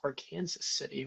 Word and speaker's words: Arkansas City: And I heard that that was actually pronounced our Kansas City, which is funny.